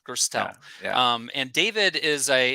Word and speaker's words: Gerstel: how did i do pronounce it for me again gerstel generally yeah versatile gerstel um and david is